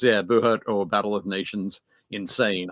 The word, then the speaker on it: Buhurt: search for is it Buhurt? How's it? I know it's spelled like BUHURT, I believe. Yeah. So it's BU Hurt. BU Hurt. Yep. That's you be hurt.